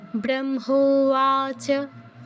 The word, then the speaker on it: ব্রহ্মোবাচ: তারপর ব্রহ্মোবাচ, ব্রহ্মোবাচ, এই বটা ব্রহ্ম এর বটাও কিন্তু আমাদের বর্গীয় ব, বাংলা বয়ের মতো উচ্চারণ হবে। আর হয় ম, আগের নিয়ম, মটা আগে উচ্চারণ হবে যেহেতু অনুনাসিক্য বর্ণ যুক্ত আছে। ব্রহ্মোবাচ।